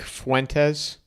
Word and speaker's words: Fuentes: Nick Fuentes.